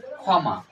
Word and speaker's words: ক্ষমা: এখন ক্ষয় উচ্চারিত হয়েছে খ এর মতো, খ, তাহলে খ মা, খ মা।